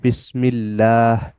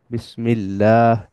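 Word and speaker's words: بسم الله: কাসরা আছে মানে বিসমি আর এখানে লামের উপরে তাসদিদ আছে অর্থাৎ সরাসরি গিয়ে ধরে বা ডাবল উচ্চারণ হয় এটাকে বলা হয় তাশদিদ তার মানে লাম এখানে ডাবল উচ্চারণ হবে অর্থাৎ বিসমিল্লাহ বিসমিল্লাহ এরপরে আবার হা এর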